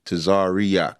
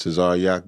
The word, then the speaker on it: Tazaryach: You know, you one of the rare guys that say my name right. They usually say Tazaryach. There's no E in my name. It's just Tazaryach.